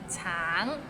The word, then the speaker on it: 橙: 橙 it means orange, but some people might find it difficult because the end has a little ng, so it's a bit of nasal sound.